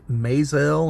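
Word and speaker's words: Maazel: he's played by Lincoln I believe it's pronounced mael it's m a a z l he is only in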